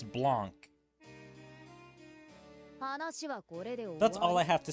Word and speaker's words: Blanc: Alright, I looked it up just to make sure, so it's Blanc.